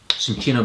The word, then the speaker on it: cinchona: I think it's the cinchona bark. I think that's what it is that's actually, yeah, I mispronounced it earlier. Well, I actually can pronounce it different ways, but it's sin at the beginning.